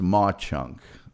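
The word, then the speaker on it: Mauch Chunk: It's pronounced Ma Chunk.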